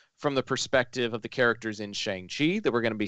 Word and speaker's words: Shang-Chi: perspective of the characters in Shang-Chi, that we're going to be seeing it from the perspective of the characters in Spider-Man.